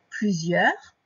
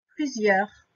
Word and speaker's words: plusieurs: Donc, n'oublie pas le début, le P, L, U. Après, le Z qui est fait comme le Z de valise. Plusieurs. Donc, le E de plusieurs qui est fait avec EU, ça je peux te le redire.